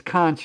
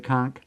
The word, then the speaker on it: conch: Uh and by the way, it's kunch in British English. So Americans say conchk or British say kunch.